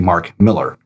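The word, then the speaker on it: Mark Millar: And so I made the effort into looking it up, and yes, it's actually Mark Miller. That's how you pronounce it.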